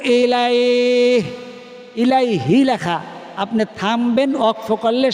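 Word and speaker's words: إليه: আস্তাগফ আমার সাথে বলেন এখন আমার সাথে বলেন আস্তাগফিরুল্লাহা ও ইলাই ইলাইহি লেখা আপনি থামবেন ওয়াকফ করলে শেষের হরফ জজম হয়ে যাবে ইলাই হাটা উচ্চারণ হবে কিন্তু ইলাইহি বলবেন না আসতাফিরুল্লাহ ইলাই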